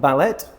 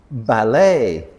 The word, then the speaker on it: ballet: It's not ballet because again we're still in French words. E is a sound. So, this word is ballet.